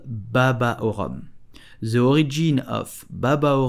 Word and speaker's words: rhum: So, to pronounce Rhum correctly, you will pronounce the H and the U like a O. Rhum.